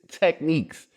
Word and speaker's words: Tekneekz: It's Tekneekz. The way that it sounds is the way it's spelled.